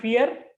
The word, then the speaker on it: fear: fear fear you know it's not fear r is silent so it should be pronounced like fear fear so initial position